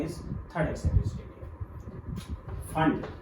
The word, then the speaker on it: Pfund: फंड P silent है इसमें, PFUND फंड series या फंड लाइंस साइंटिस्ट के नाम पे दी गई है।